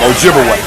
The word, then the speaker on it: Ojibwe: they twice and of course they corrupted the pronunciation of those Ojibwe people to Chippewa absolutely so Chippewa and Ojibwe that's the same people wise the European Corruption of their real name Ojibwe okay so they begin to trade of course